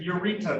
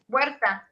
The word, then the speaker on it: Huerta: Your Honor, the U and the E become a W. I mean, it's the U becomes more of a W, so it's like, think of W-E-R-T-A, Huerta.